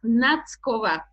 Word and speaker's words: Nackova: No one does anyway, because you don't have T. It's between T and S. And it's quite difficult to pronounce.